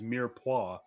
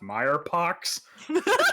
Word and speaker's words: mirepoix: food related word is mirepoix because it's it's not it looks like it's pronounced meyerpox yeah French language even